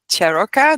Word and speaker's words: Ciarrocca: We're meeting today for the very first interview with Cheroka. Did I pronounce that correctly?